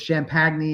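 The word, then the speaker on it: Champagnie: Was Champagne, that's how he pronounces it.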